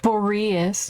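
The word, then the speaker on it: Boreas: is the connection between them okay apparently is pronounced boreus even though boreus sounds a little bit easier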